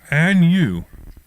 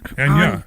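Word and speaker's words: Áine: Anya. What is it? Anya. Anya. Well, why don't you spell it better, man? That's how it's spelled. Yeah. What's going on? That's how it's spelled. Yeah, it's Gaelic for Anna.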